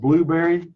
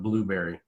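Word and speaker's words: Blubrry: go back through videos it's b lu v rry yes so it's kind of a short version of blueberry yeah okay this is I guess it's pronounced blueberry or maybe a blueberry I don't know yeah but blueberry I mean it makes sense yeah blueberry but so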